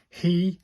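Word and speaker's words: ひ: This is pronounced like he. This is H-I, but it's pronounced like the he in he or she.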